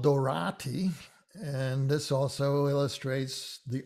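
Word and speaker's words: Doráti: next one is antal dorati and this also illustrates the ah versus the ah it's on tall without the accent dorati with the accent he was prominent conductor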